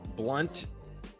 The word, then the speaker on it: Blount: And uh it is spelled with an O. Blunt on LeGarrette Blount.